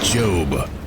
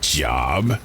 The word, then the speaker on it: Job: It's pronounced job. Like globe, not job as in G.